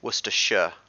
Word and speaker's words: Worcestershire: so think of it rather more of like an e rather than i in the sh in the in the shire so yeah worcestershire less sure yeah that's not weird yeah